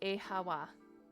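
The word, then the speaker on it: Oíche mhaith: The Irish for good night, one dialect would pronounce it as e hawa.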